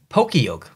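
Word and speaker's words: Pokiok: Pokeyoke. That's how I say it. All my friends say it. I don't know if you say it differently or, you know, pronounce it differently when you first saw that.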